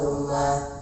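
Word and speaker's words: ضمة: Fathah kasrah dumah, dumah kasrah dumah. Seperti koma namanya dumah bersuara u dibaca pendek. Tulisannya domah ya, tapi dibacanya dumah ya, dibacanya dumah.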